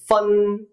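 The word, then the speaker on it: 分: 다씨는 부는 펀 초는 뒤에 펀초를 뜻하는 거예요. 아시겠죠? 자, 제가 여기 발음 이렇게 써 놓은 이유가 있어요. 한글론 펀이지만 P 발음이 아니라 F 발음을 하시라는 거예요.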